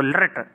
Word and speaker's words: लृट्: लृट उच्चारण करने में प्रायः सभी छात्र गलती करते हैं, इसको लृट लकार कहते हैं।